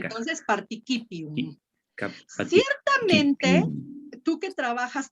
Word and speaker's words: participium: Nomen, pronomen et participium. Muy bien. Nada más acuérdate que aquí vamos a leer nosotros como una K. Una K. Entonces, participium.